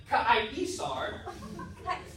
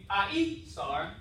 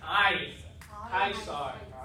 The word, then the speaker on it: Caesar: It's not Caesar. This right here is called a D-I-P-T-H. O and G. A diphthong. So instead of actually saying I-sar, we're going to count it as one syllable, A-E together. I-sar. Right? So A-E makes the I.